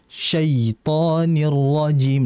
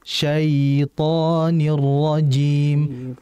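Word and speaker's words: الشيطان الرجيم: yang kedua adalah menghentaknya harusnya bukan syaitirim nah ini Jadi harus lembut syait syaitanirrajim bukan syait syaitirim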